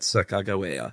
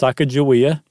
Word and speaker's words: Sacagawea: years, no, it's not Sacagawea, it's Sacagawea, right? There's one pronunciation of it, but that it's not J, it's G.